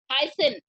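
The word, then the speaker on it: hyacinth: तो ये जो है लोटस एंड वाटर हाइसिन, मैंने उस दिन बताया था ए साइलेंट है, हाइसिन, CINT, सिन, are some plants that grow in water.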